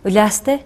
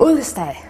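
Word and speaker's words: Uliastai: How do you say that again? Ulyaste. Ah, okay. I've been saying it wrong for 3 years. How did you say it? Ullestad.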